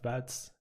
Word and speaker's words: Bouts: And my last name is called Bouts, which uses one of those vowel sounds, which makes it especially hard to pronounce for virtually everyone.